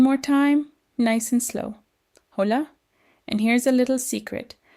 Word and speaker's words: hola: Hola. And here's a little secret. The letter H is completely silent. You never say the H sound. So, it sounds like Hola.